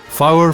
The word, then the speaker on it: fower: Common Scots pronunciations are yin for 1 and twa for 2, fower for 4, pit for put, and more becomes mair, while money means many.